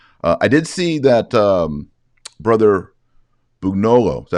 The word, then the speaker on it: Bugnolo: I did see that Brother Bugnolo, is that how you say his name? Yes. Bugnolo.